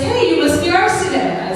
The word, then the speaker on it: Arsineh: Spelling and pronunciation. The irony is that he got my name right in America, Arsineh. He said Arsineh right, so.